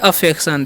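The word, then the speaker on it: affection: टी आई ओ एन इसे हम पढ़ते हैं अफेक्शन देखिए ए का जान करते हैं अ ठीक है डबल एफ का फ ई का एकले और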